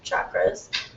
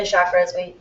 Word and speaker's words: chakras: And we work with 7 chakras. Americans say chakras, Sanskrit's chakras.